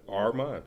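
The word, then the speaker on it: Armon: Like my name, you got to pronounce it. A-R-M-O-N. Armand.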